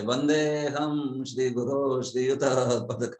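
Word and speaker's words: वन्देऽहम्: तो वंदे प्लस अहम बोलते हुए वंदे हम ऐसे ही बोलना है। वंदे अहम कभी मत बोलिए, वंदे हम बस। वो अ बीच वाला बिल्कुल प्रोनाउंस मत कीजिए।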